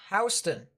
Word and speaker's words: Houston: towards your south just by a bit it's pronounced houston that is the county in warner robins and